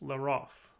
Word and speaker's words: llarof: Consider the hypothetical quantificational determiner that I suppose I'll pronounce Leroff.